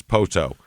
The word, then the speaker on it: Poteau: P O T E AU is Poto.